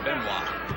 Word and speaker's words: Benoit: Benoit, but pronounced Benoit.